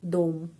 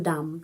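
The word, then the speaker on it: дом: Dom bukan dam tapi dom. Karena huruf o ini mendapat penekanan dom.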